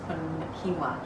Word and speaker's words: quinoa: Quinoa is how you say it. I always say it wrong. I've been saying like quinoa my whole life, and my girlfriend's like, "What? You mean quinoa?" So I was totally wrong.